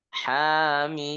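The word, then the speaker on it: حم: Mimnya mimnya en harakat. Hamim. Nah, mimnya enam harakat karena dihukumi mad lazim harfi mukhaffaf. Kalau yang h-nya itu mad thobi'i harfi.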